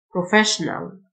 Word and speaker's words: professional: plumber plumber محترف professional SSIO تنطق شه professional بائع في محل shop assistant shop assistant SH تنطق شه طبيب بيطري vet vet Suppressions and prepositions.